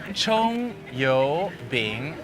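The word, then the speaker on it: 葱油饼: Chong yo bing. Bing. Boom. Chong Yoi Bing. Yes.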